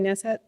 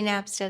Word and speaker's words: Napstead: Next up, we have Nessett. I think I said her name wrong. Hi. My name's Napstead.